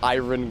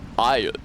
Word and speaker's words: iron: He was advertising the man grate, and he says cast iron grilling grates, and Larry King is like, he gives him a whole dressing down. It's pronounced. It's iron. You don't pronounce the R. That's iron.